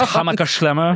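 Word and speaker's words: Hammacher Schlemmer: Yeah, I can never pronounce it's Hammerschlemmer. Excellent, well done. You have to. The key is to make a lot of saliva as you say it.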